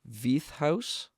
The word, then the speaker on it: Veith House: now and that's I know I'm going to mispronounce this once again, V House.